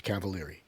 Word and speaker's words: Cavaliere: That's how they pronounce it in America, so that's what I use.